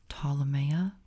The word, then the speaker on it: Ptolemaea: Again, for those who don't know, it's pronounced Ptolemaea, like Ptolemy, who it's named after. Ptolemaea.